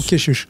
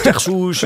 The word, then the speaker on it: Kechiouche: Dourika, Salim Keshush est avec nous. Je prononce bien Keshush ou Keshush? Keshush, bien.